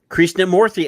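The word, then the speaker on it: Krishnamoorthi: olds Illinois Congressman Raja Krishna morthy has been Krishna morthy I've been saying it right the whole time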